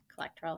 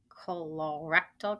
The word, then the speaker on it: colorectal: term there it is collectoral cancer colorectal cancer that's how you say it okay so here